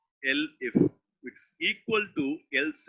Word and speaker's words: elif: In Dev C++, we pronounce as else if. Here, the same else if is being pronounced with elif.